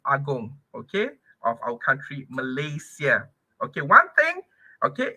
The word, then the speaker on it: Malaysia: as the latest aong okay of our country Malaysia okay one thing okay it's um okay one